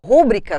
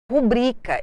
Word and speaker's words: rubrica: a correta, quando apresentasse rúbrica com acento como proparoxítona, você reconheceria que era um erro. Rubrica é uma paroxítona não acentuada terminada em A.